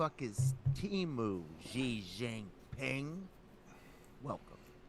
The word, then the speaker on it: Temu: episode 126 what the is teu Xing ping welcome I had a feeling you'd take it there and make get something about xiin ping Ser yeah but it's not teu it's teu in the Super Bowl ads everybody realized we've